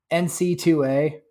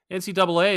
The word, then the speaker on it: NCAA: Oh, He keeps calling it that instead of NCAA. I'm like, that just like, oh my God. There's people who did that though? Then like maybe but man. NCAA is how you say it though, right?